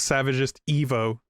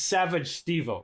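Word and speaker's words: SavageStevo: Okay, so the lore behind that is that that's the most common mispronunciation of my tag if you don't know how to pronounce it, and it's Savage Stevo, right? Because like Steve or Steven is my name, but like we were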